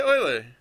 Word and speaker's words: Euler: equals uh Quan do Oiler I'm probably gonna say uler sometimes you guys and it's only because when I see that my brain says uler but my brain also says oh you should probably pronounce that Oiler because some people will get mad at you if you pronounce it Euler um and for other